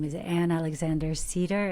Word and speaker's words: Sieder: name is an Alexander Cedar it's spelled s i e d r but it sounds like the tree and you can find